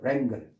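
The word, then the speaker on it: wrangle: 자, 여기에 W가 발음이 안 되고 랭글이에요. 랭글.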